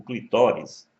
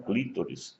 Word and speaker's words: clitóris: um órgão mais sensível o clitóris e não clítoris como muita gente pronuncia incorretamente deve ser deixado por